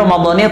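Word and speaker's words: رمضانِ: Yang betul bacanya adalah Ramadhani. Kenapa Ramadhani? Karena menurut ilmu nahu isim ghair munsharif itu kalau jar maka dengan fathah. Kecuali kalau dia diidhafahkan maka tetap dengan kasrah.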